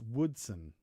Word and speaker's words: Woodson: okay so like Boise Boise yeah it's actually pronounced Woodsen apparently rather than what what rather than with